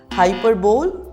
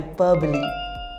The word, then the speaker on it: hyperbole: to our 11th word so how do you pronounce this word hyperb or hyperb no the correct pronunciation is Hy hyperbole repeat after me hyperbole saying that he can